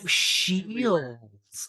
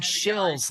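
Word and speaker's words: Scheels: Oh, shields. Okay. I thought you were saying shills. Like I'm a shill.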